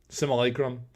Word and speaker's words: simulacrum: one self-same simole Chrome simulacrum so that is how you're supposed to pronounce it apparently oh orb of bell